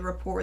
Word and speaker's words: rapport: of depends on the rapport that you have with the person. I love the silent T in that word.